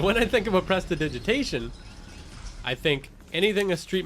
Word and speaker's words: prestidigitation: a long time so once again it's Presti digitation so Presta is French for nimble digitus is Latin for finger and ation is English and it denotes action